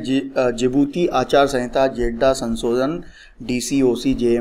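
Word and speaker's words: Djibouti: और स्पेलिंग जो है ये डी से स्टार्ट होती है, लेकिन इसे जिबूती बोलते हैं, जिबूती, ठीक है।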